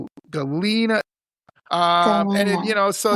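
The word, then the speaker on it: Galena: And how do you spell it? Galina. G A L E N A. Yeah. Okay. Galina.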